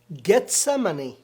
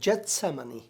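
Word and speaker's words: گتسمنی: ایک اور باغ ہے، گیتسمنی یا پھر جتسمنی، آپ چاہے اس کا تلفظ کسی بھی طرح کریں۔ عبرانی زبان میں جیم نہیں بلکہ گا کہتے ہیں، تو گیتسمنی یا جتسمنی آپ چاہے کچھ بھی کہیں، اور عربی زبان میں گاف نہیں ہے اس لیے وہ جتسمنی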